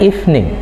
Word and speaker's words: evening: In English there are like silent letter. Eh, silent ya, silent letter. Ada kata yang gak dibaca atau ada huruf yang dibaca. Walaupun tulisannya kemudian evening, tapi bacanya evening, good evening.